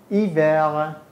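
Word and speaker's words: hiver: میخونم با اختی ایو یادت نرفته که اش تلفظ نمیشه در زبان فرانسه ایو نمیگم هیور ا ای ایور حالا با اختی لیور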